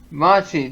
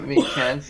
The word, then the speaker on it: Machi: Machi, that's it. Machi, not Michan.